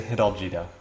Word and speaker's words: Hidalgito: In the color red, playing Spain, and then are you pronouncing this Hidalgito? Is that right? Yeah, I say Hidalgito.